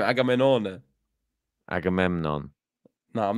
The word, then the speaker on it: Agamenone: Yeah, I know, but it's spelled Agamemnon. It's Agamenone. In Italy, yeah. No, that's how you say his name, Agamenone.